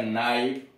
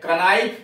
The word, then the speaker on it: knife: अब आइए, ऐसे ही पहले के का उच्चारण होता था KNIFE, बाद में धीरे धीरे जब रोमन प्रभाव हुआ तब के को साइलेंट कर दिया गया, नाइफ। पहले पढ़ा जाता था गना, अब पढ़ा जाता है न।